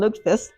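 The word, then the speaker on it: lutfisk: If it's Swedish, it's called Lukefist. If it's Norwegian, it's Ludafist. three syllables, but they take a cod, they soak it in lie, and then they eat it.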